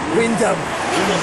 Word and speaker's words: Wyndham: Winsome or Wyndham? W-Y-N-D-H-A-M. That's how you spell it.